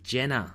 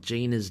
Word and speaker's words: Gena: she did say that it is Jenna not Gina's diner I had always pronounced it Gina did you pronounced a